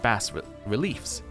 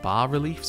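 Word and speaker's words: bas-reliefs: gigantic ruins covered with Bast reliefs uh it's not bass is it it's like bar reliefs or something like that anyway somebody told me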